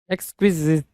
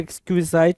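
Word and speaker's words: exquisite: एक्सक्विजिट, एक्सक्विजिट कुछ लोग पढ़ेंगे, कुछ लोग एक्सक्विजाइट पढ़ेंगे, कोई इशू नहीं होगा जी, दोनों में कोई जो भी प्रोनाउंसिएशन है ठीक है।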